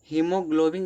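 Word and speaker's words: haemoglobin: हीमोग्लोबिन जो दिया है हीमोग्लोबिन में दोस्तों ए साइलेंट होता है।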